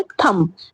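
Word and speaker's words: thumb: Next है थंब। थंब थंब में भी क्या है? एम के बाद बी आया है। लेकिन हम क्या पढ़ते हैं? थंब पढ़ते हैं। बी क्या है? साइलेंट हो चुका है इसमें भी।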